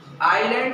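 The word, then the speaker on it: island: आइलैंड में यस जो है ना वह साइलेंट रहता है।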